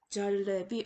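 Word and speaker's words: जलेबी: 자, 오른쪽에 있는 단어 중간에 오는 이 주황색 음절을 보시면은 러에다가 에가 붙었죠. 그래서 레라고 발음하시면 되겠습니다. 첫 번째 단어는 쉐르라고 있는 힌디어 단어로 사자를 뜻하고요. 오른쪽에 있는 단어는 절레비.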